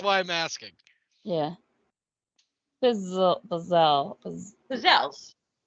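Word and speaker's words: pizzelle: I'm asking yeah pel pizelle pels it is pizel I've had people correct and say no it's pels there's actually a whole you could buy like a whole pizelle making setup yes I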